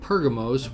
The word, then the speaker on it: Pergamos: we will find the ancient city of pergamos which is the Greek pronunciation and pergamum according to the Turkish pronunciation the trip is going